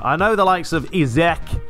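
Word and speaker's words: Isak: I know the likes of Izek, that's how you say it. Oh, I've Googled it. It's not Isaac, it's Izek.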